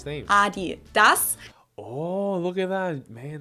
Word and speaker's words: Adidas: were referring to because they usually pronounce it Adidas and in Germany we say Adidas because the accent goes to the a Adidas Adas super different